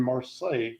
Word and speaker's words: Marseille: I know Marseille. That's where Ratatouille lives. Okay, Marseille. So Marseille. I'm going to say okay, like Versailles, France.